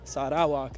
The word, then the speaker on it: Sarawak: that grow along the coastlines of sadak so Sak that's how you pronounce it correctly um so let's go see